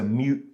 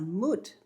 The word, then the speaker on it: moot: But the right way to say it is, it's a moot point, which means the point doesn't matter.